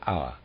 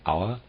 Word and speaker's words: Auer: He died in the year 1213, and he was known as Hartmann von Auer. I'm pronouncing Auer, A-U-E. Footnote number 6, Hartmann von Auer, 1160 to 1213, Mittelheide German Minnesinger and epic poet.